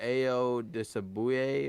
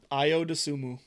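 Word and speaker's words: Ayo Dosunmu: look impressive illinois came out even and without ao disability or is that how you pronounce it i don't know i don't know io the sumu there you go ayo dasumu i o dasumu was not in this game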